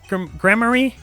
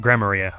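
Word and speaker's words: Gramarye: Troop Grammary? Huh? No. Okay, well that should give me a hint about how to say it. Greymaria.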